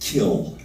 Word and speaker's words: quell: And quell was often pronounced kill, and really in effect means that, our slaughter, our murder.